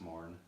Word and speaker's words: morn: It's like Mourn, it sounds like you're mourning something, like something died.